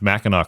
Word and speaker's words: Mackinac: Is that there up by Mackinac Island? There's no way. Well, just that you pronounced Mackinac correctly shows that you know something about Michigan because it's spelled Mackinac.